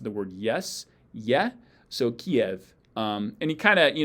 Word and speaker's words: Kyiv: kind of you know if you go from an e to an you kind of get this yad ya sound in the middle for free so kiev um but that's basically how it's pronounced whether you are doing the yad intentionally or not um yeah so it's not cleave it's kiev uh yeah so um